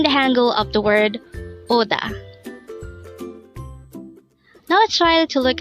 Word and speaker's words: 오다: This is pronounced as a two-syllable word. The first syllable is O and the second syllable is DA. Pronounce it with me. ODA.